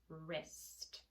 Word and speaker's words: wrist: The second one is WR, and in the WR combination, the W is silent, so the only thing that you hear is the So if I add an IST, this is ist, wrist, right?